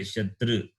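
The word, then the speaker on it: शत्रु: Both are not same at all. No. Shatra is different. Shatru is different. When you hear when I say Ukara sound, no, I say Shatru. My tongue touches this roof of the mouth.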